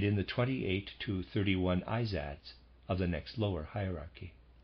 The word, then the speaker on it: Izads: Readers aside, that's how I'm going to pronounce that. I-Z-A-D-S, Izads.